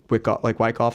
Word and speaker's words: Wyckoff: Christine, Cbc Events in like Wyckoff, I think Wyckoff, Yeah, right? That's how you yeah.